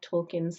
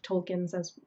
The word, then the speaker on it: Tolkien: Many of us pronounce his name a little bit lazily. We say Tolkien, and that's because when you are forced to say Tolkien, it changes your your ethnicity.